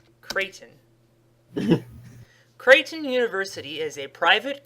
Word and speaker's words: Creighton: Unless that's a mispronunciation of Cretan, but I don't think it is. It's Creighton.